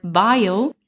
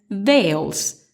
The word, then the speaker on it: vial: The first crime occurred when my dear German friend Alex pronounced vial, as in a small container typically cylindrical and made of glass, as veils, a piece of fine material worn by women to protect or conceal their face.